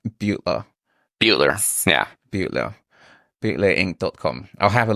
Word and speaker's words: Beutler: Am I pronouncing it right? Beutler.